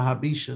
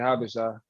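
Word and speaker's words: Habesha: Oh, when he said it, I thought it was Habish. Oh, yeah. No, it's definitely Habisha.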